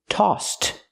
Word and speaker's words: tossed: We hear the past of toss, tossed. We use the t sound after the s because the s in toss has no voice. So we use the t sound for the ed.